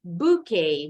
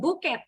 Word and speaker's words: bouquet: Next, bouquet. Bukan buket. Buket bahasa Indonesia. Kalau bahasa Inggris, T-nya nggak bunyi. Bouquet. Ikutin pronunciation bahasa aslinya.